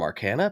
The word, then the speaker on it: Arcana: And with me today, I have Ricky Sutton from Arcana Pickups, which we just just discussed is the only way you're allowed to pronounce it.